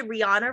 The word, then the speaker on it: Rihanna: I was like, there's so many words that just did you know that we all say Rihanna wrong?